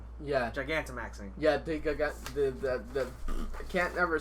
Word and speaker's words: Gigantamaxing: Like just to get to like your last comment with the Gigamaxing. yeah. Gigantamaxing.